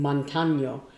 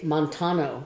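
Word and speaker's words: Montaño: And so when it's written Montano, the last N in there has a little tilde on it, right? But you say it like, N-Y, and Montano. Has an N-Y.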